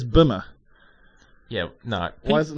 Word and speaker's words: Bimmer: It's Bimmer. Yeah, no. Why is it not Beamer? Do people spell it like that?